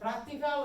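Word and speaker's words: práctica: So practica with an accent on the A is a noun. Practica, no A, is the verb for he or she dances. Or practices, sorry, lo siento.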